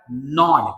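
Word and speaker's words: gnawed: इट was evident that the unresolved quarrel is still नॉड एट हिम। यहाँ पे जी जो कोई भी है वो साइलेंट है, तो इसे क्या बोला जाएगा? नॉड।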